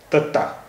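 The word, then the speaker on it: ਤੱਤਾ: पंजाबी भाषा का 21वां अक्षर तत्ता। तत्ता, इसका उच्चारण हिंदी के ता जैसा होता है।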